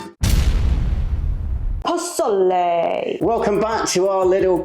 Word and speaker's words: Pozole: to admit that for the past year I've been calling it posal. Posal is Yeah, pronunciations are are catching us out quite a bit. Yeah. When you said it earlier, you sounded quite Italian. I went Pozole, but it's Mexican.